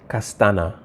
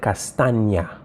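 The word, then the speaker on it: Castaña: she said her name she didn't say castana she said castania all right so that already give you an indication as to what spelling she would have used because she pronounced the letter n y castania you see so that's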